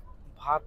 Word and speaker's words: भात: और ऐसे ही वो भात है, भात। हम भाट नहीं, तूने बोला भाट कि काट बाट वाला भाट।